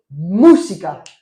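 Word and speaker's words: música: J'écoute de la musique de best ando musica. Alors attention à la prononciation mousika u surtout que la déjà il l'accent mais surtout que la u se prononce ou d'accord donc de temps en temps j'écoute de la musique.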